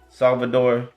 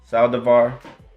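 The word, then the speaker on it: Saldívar: First off, condolences to the kid Mark Salvador. No, did I say it right? Sorry, make sure I say it right. Saldivar.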